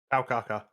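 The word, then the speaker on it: Taokaka: And the next death battle is between Felicia and um, how do you guys pronounce this? took Kaka. Ta Kaka.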